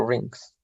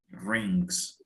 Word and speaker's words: rings: Well, but then again, lots of married people don't wear rings. Okay, be careful. Aquí sí tienes que pronunciar la G. Rings.